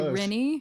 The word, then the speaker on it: Rinne: Uh last last name would be pronounced uh Rena kind of like that.